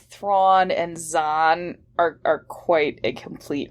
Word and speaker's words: Zahn: So we're here today to talk about the new incarnation of Thrawn by, of all people, Timothy Zahn, which oddly rhymes with Thrawn.